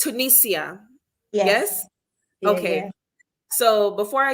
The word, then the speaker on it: Tunisia: mind it was Tunisia I've never Googled the pronunciation before okay but it's it's Tunisia yes okay so before I head into your